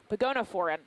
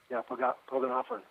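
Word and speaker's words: Pogonophoran: Pagonophoran. Oh, Pogonophorn.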